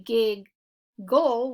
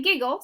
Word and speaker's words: giggle: we're gonna split between the two G's our first syllable is short but we have two G's we don't say gig goal we say giggle so we're gonna mark that